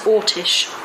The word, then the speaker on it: Orsic: A lot of people spell it Orsic, O-R-S-I-C. I don't believe it was that. I believe it was Ortish.